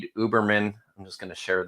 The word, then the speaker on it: Uberman: And I've heard him pronounce it before. It's Uberman. So it's not Ubermensch.